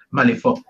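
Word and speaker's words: Malifaux: muchas ganas que hiciéramos vídeos de malif o malif Según como quiera pronunciarlo de hecho sé que se pronuncia malif nombre y le dije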